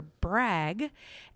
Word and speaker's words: BRAG: syllables you really want to stick to one syllable and just say it you know brag yeah for sure for sure yes well we're